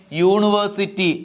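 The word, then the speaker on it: university: നമുക്ക് എന്ത് ചേർത്ത് പറയാം എ യൂറോപ്യൻ അടുത്തത് നോക്കിയേ യൂണിവേഴ്സിറ്റി യു എന്ന അക്ഷരം കണ്ടിട്ട് എഴുതരുത് ആൻ എന്ന് എഴുതരുത് അതും എങ്ങനെ ഉച്ചരിക്കുന്നു യിലാണ് അതിന്റെ ഉച്ചാരണം തുടങ്ങുന്നത് യ അതുകൊണ്ട് എ യൂണിവേഴ്സിറ്റി അടുത്തത് നോക്കിയേ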